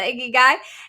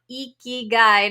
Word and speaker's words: ikigai: i said excuse me are we talking about the iggy guy and he says no khan iki guide he had to really spell it out for me and so